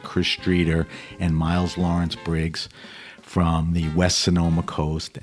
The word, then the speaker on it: Briggs: is right you got it and Miles Lawrence Briggs ah there you go yeah you got not bigs not bigs boy I'm really prepared um from